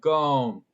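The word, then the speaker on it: cơm: boom yeah kind of it's like you're saying comb in a weird way everybody yeah say gom yeah something like that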